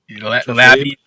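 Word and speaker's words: Labbe: Labby.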